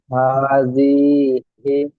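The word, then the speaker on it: هٰذِهِ: জি, হাজিহি, জিটা টান হয়ে হা যাচ্ছে, খাড়া যাবার, হাজিহি। হাজিহি, জি, এবার বানান করেন।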